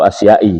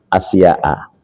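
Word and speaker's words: أشياء: Ada yang baca sittatu asyai gitu. Ya, saya anggap itu wajar. Kenapa? Karena belum belajar isim ghairul munsharif. Jadi asyai dibacanya. Padahal itu tetap sittatu asya'a.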